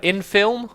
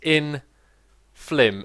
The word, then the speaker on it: Inflim: It's actually pronounced Inflim, as in Flim Flam.